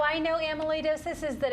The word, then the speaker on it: amyloidosis: Megan she's my best friend nagging me about a molar doses well I just learned how to say it myself are you kidding how I know amyloidosis is that it's a rare blood disease and